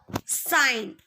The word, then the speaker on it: sign: The letter G is often silent when it comes before N at the beginning or end of a word. For example, foreign or sign.